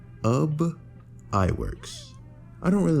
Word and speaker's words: Ub Iwerks: by and I hope I'm saying this right, Ub Iwerks. They say his name is spelled U B but it's pronounced like tub, sub, or bub. So, it's Ub Iwerks.